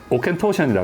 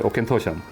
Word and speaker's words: Auchentoshan: Try pronouncing this. Bet you can't. Aken-tu... It's Auchentoshan. Auchentoshan.